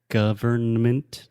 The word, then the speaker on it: government: No, I'm saying you don't need to pronounce the N. Although we write the word government with an N, when we speak, we simply say government.